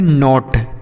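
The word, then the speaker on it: knot: एन ओ टी नॉट यहां पर भी के साइलेंट है अगर के और एन एक साथ रहते हैं तो यह जो के होता है ना यह साइलेंट होता है इसे आप याद कर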